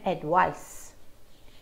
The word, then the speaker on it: advice: very similar advice and advice the difference is in the final consonant sound very slight difference advice with a sound